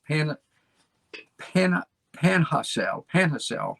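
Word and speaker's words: Panajachel: e l pana pana panha cell panhacel my wife tells me that's how to pronounce it nicaragua three homes plus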